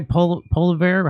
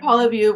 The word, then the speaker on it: Poilievre: Poliver? How do you say his name? Pierre Poilievre will be running He's the as the same.